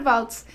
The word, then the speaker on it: Waltz: votes I think it's votes it is yeah right like the dance like the dance like the dance exactly because I hear so many people mispronounce that last name so with Indra votes she's the co-author of